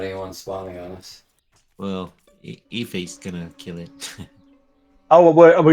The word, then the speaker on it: Aoife: here, so I mean, Ife. Aoife. I think. It's actually the Irish goddess of song. So it's this Irish name. That's the reason why it looks so weird and just pronounced a different way.